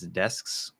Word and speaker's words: desks: So instead of going S, K, S, right? What we're going to do is we're going to go S, S, and we're going to hold the S the whole time.